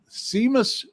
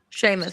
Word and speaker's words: Seamus: So I just asked Google Jim and I uh Seamus Kulitin Sheamus Sheamus Sheamus Jamie keeps me honest on pronouncing things and understanding screen name puns.